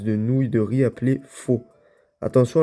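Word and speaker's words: phở: nouille de riz appelé faux. Attention à la prononciation. La plupart des gens disent faux. Ben c'est ce que j'ai dit mais ils ont tout faux. Ça se prononce fa comme la note.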